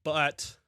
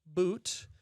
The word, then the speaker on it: But: It's pronounced boot and uh no no ifands or boots about it.